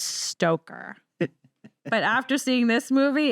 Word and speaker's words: Stoker: stroker's character Renfield yep I always want to say Bram stroker which is not how you say it it's stoker but after seeing this